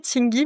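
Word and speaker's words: Tsingy: Euh ça s'écrit Tingy mais je crois qu'on prononce Ting encore une fois.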